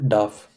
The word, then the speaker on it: darf: Which one is gets Dürfen. conjugated? Dürfen. Modal verb. So let's conjugate dürfen for one. So how do you say one is not allowed to smoke? Man darf nicht rauchen. Not dürf, darf.